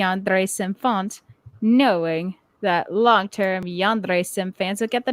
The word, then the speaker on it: yandere: difficulty pronouncing the word yandere the most common mispronunciation is yonder leading to many to